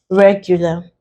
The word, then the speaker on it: regular: Also, we stress the first syllable here, regular.